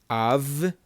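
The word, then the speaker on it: אברהם: They are both kamatz. Kamatz both have an ah sound. Avraham. Avraham. Avraham. Avraham means Abraham in Hebrew. It's just a Hebrew way of saying Abraham.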